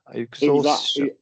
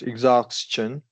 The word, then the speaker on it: exhaustion: So last two words, I was not fully aware it should be pronounced with ch sound.